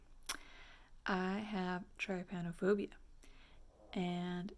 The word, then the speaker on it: trypanophobia: we're gonna talk about tripanophobia i have tripanophobia and people pronounce it differently this is how i pronounce it because that's how it was said to me by a medical professional the first time basically it is a